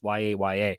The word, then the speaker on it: Yahya: Apparently, it's Yaya.